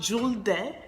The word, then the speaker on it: Julde: start another video so my name is jewel jewel day but it's actually pronounced jeweled day and Juliet is a